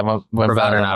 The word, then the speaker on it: Rabadanov: But so that aside, like in your fight against, how do you pronounce his name? Rabadanov? Yeah, Rabadanov, right?